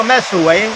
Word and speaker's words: แม่สรวย: ว่า เขื่อน แม่ สลวย ถ้า คน ทั่ว ไป เ จะ เรียก เขื่อน แม่ สลวย เพ ปรากฏ ด้วย ส เสือ ล เรือ ว แหวน แล้ว ก็ ย ยักษ์ นะ ก็ เหมือน อ่าน ว่า สลวย แต่ จริง ๆ คน แถว นี้ เ เรียก ว่า แม่ สวย แม่ สวย นะ ก็